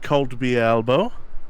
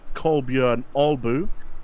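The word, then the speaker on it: Kolbjørn Albu: Fan favorite, probably our most favorite Kolby Elbow. Or, as it's actually pronounced, Kolbjörn Albu, in the KTM, and in his lovely Norwegian racing beige livery that we know and love.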